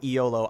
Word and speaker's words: Iolo: iolo's uh The Bard eolo i o l o pronounced pretty much exactly like YOLO um uh like him